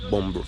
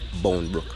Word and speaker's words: Boundbrook: they have bom Brook Country people call it bom Brook but you don't know the correct pronunciation is Bone book we at a hot spot where they do